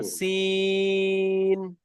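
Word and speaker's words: سين: সিন হরফটি 3 আলিফ পরিমাণ টান হরফ, টান দিতে হবে তো। সিন, সিন, হা, হা।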